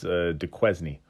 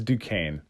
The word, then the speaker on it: Duquesne: you might see Hawaii playing some team that's des quiz knee its Duquesne that's how that's pronounced it's very French the Pittsburgh gave me